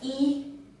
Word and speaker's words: 一: so easily easily it is one and it's pronounced as e e